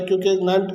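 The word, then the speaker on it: coup: ठीक है, तो सिविलियन कू कब इसे कू, उनका प्रोनाउंसिएशन कू कहा जाता है।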